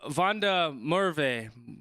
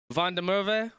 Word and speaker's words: van der Merwe: It's pronounced Van der Merwe. Van der Merwe? Is it because the WA is like a V, right? It's pronounced like a V. Van der Merwe.